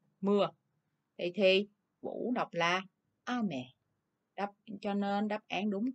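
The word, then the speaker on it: あめ: Thì vũ đọc là ame.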